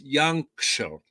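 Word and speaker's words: Jancsó: uh without a myklos yancho wait a second i got to get this hungarian hungarian is very hard to pronounce so it's young show me hard to pronounce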